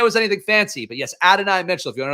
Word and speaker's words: Adonai: Colts, obviously, the big addition here is going to be Adonai Mitchell, AD Mitchell.